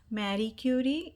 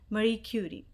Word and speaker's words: Marie Curie: title is marie curie alternate pronunciation for the title is mary curie it's a polish name so i will go with marie curie if you're looking for